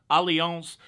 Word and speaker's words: Allianz: a company called allianz it's spelled like alliance with a z allianz and but when you